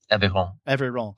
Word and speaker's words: Aveyron: Is it, how do you pronounce it? Aveyron? Aveyron.